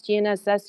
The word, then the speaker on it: GNSS: how esbas helps gnss can everybody pronounce gnss you know the G's silent it goes and sbass is